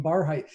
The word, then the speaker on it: Barhydt: I literally, you and I joked a little bit at the beginning of pronouncing my name Barheit, and it's a Dutch-German spelling, but it shouldn't be hard for the guy who was born with it.